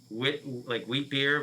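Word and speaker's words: Witbier: Wheat beer, but it's spelled like WIT.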